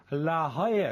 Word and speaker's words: La Jolla: It was the US Open in La Jolla, California. There you go. La Jolla, I've never been there. La Jolla, California. La Jolla. It sounds like Hawaii, doesn't it?